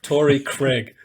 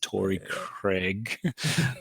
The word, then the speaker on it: Torrey Craig: If you're an American commentator, Craig. It's Torrey Craig, apparently.